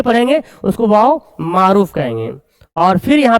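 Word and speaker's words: مور: से ये पूछा एग्जाम में है पहले वा मारूफ यहीं प पढ़ लेते हैं व वाव जो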